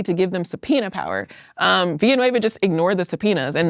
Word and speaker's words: Villanueva: And Villanueva, actually, is that how you say it?